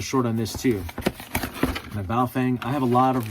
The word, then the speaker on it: Baofeng: I'm used to the Baofengs, right? The proper pronunciation. I used to teach English to Chinese kids, and it's Baofeng.